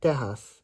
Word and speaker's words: Tejas: Maybe in the word Tejas, it makes the h sound.